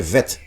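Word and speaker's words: ב: Que quando tem o Dagesh é Bet, quando não tem o Dagesh é Vet, né?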